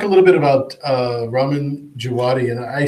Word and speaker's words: Djawadi: W is going to be pronounced as a V. Okay. So it's Djawadi.